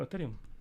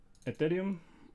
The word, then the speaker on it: Ethereum: downside consolidation okay actually i'm talking about about aetherium i said it right now yeah ethereum wonderful wonderful chart for shorts